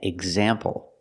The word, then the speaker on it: example: Exit and example. Here the X makes the gz sound with a voice. G, z, together, gz. Exit, example.